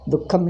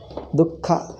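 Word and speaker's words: दुःखम्: Dukkham is suffering. Dukkha, how do you pronounce? Dukkham. Dukkham. I told you, Visarga followed by Kakha. Visarga becomes half.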